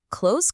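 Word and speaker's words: clothes: But in reality, close collapses into just one smooth syllable with a soft Z or S at the end.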